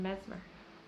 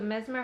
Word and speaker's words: Messmer: So Mesmer has some other kind of... Are you saying Mesmer? How are you pronouncing it? I'm saying Mesmer. Mesmer? Okay. It's spelled so seemingly Messmer. Okay, so Mesmer.